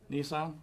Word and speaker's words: Nissan: How do you pronounce Nissan or Nissan? How do you pronounce that? Nissan. Okay, like the car.